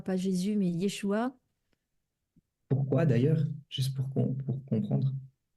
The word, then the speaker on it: Yeshua: nom, c'est comme ça que ça se prononce, c'est son nom Ah, en d'accord.